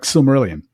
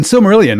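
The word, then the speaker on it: Silmarillion: If you listen to Christopher say it, he very clearly always says sylmerelion. Sylmerelion. And you've got that each vow being independently pronounced. And even that's not quite right because we're told, of course, that the I is actually an E sound, not an I sound.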